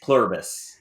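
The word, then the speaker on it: Pluribus: make sure I said it right, which is Plurbus.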